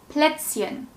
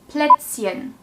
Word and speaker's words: Plätzchen: Nummer 2. Plätzchen. Plätzchen. This is a short ä sound.